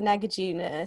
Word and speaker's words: Nagarjuna: They can be quite tricky to pronounce, yeah. It's the Nagarjuna Centre, which, just so people know, it's part